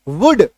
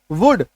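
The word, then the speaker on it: would: का वुड लग जाएगा डब्लू ओ यू एल डी वुड इसका उच्चारण होता है क्या होता है वुड नोट डाउन करते चलिए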